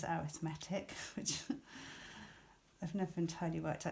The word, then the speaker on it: arithmetic: arithmetic sequence so yeah it's spelled like the word arithmetic but we say it is our thematic which I've nothing Tony